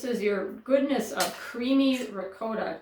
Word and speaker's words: ricotta: It is pronounced ricotta. I know that from two men who are Italian. They told me it is ricotta, like goat. Ricotta, long O.